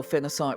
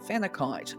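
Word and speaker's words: phenakite: Some people um spell phenocite with a K. Some um pronounce it phenite as well. For me, I've always known it as phenocite and so that's what I call it.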